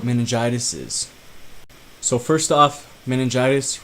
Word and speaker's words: meningitis: is so first off meningitis rhymes with elephantitis but that is neither